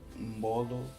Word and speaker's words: mbolo: Se vocês repararem bem, eu li Mbolo e Ngongo. Não. Mbolo nem Ngongo. Lê-se Mbolo, Ngongo.